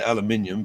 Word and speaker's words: aluminium: is a aluminum H the Brit say aluminium but Americans say aluminum hul it's got some